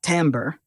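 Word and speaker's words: timbre: wave this is called its Timber pronounced tamber which makes a violin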